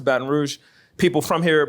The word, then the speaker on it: Baton Rouge: orleans or baton rouge i'm not from baton rouge i pronounce it baton rouge people from here pronounce